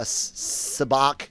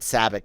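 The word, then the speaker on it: sabacc: sell experiences sell a sabach i guess that's how they pronounce it i always said savic but what whatever um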